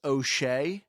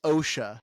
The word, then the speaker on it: Osha: a sudden it hit I kept in my head pronouncing his name as OE and his name is OSHA I didn't pick that